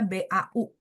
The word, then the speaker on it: 保: lanjut, 我爸从事保险业，保险业，保险业， jadi BAO itu bacanya BAU, 保险业, 保险业。